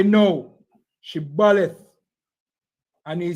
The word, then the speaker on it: Shibboleth: All right, say Shibboleth. Say the word Shibboleth. No, because they know that the Ephraimites them can't pronounce the word right. They say Sibboleth.